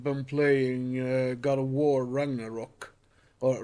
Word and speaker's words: Ragnarök: Speaking of games, I've been playing God of War Ragnarok, or Ragnarök, as it's pronounced.